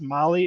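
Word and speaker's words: Mahle: all you podcast listeners Molly is spelled m ahle e all right I know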